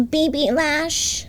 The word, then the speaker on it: BB Lash: know it sounds silly you have to say it like this the baby lash the baby baby lash cuz it sounds cuter but this is like